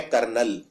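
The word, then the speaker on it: colonel: बहुत ही डिफिकल्ट है इसको लिखते हैं कल कोलोनल सी ओ एल ओ कोलोनल लेकिन बोलते हैं जनरली कर्नल तो ये स्पेलिंग काफी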